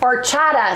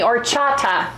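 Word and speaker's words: horchata: it with aracha because orchata excuse me orchata it's h o r c h t a the H is silent or Chata or Chata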